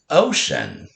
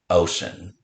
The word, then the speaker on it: ocean: 2-letter shh spelled with a C-E, as in ocean. O, sh, a, n, ocean.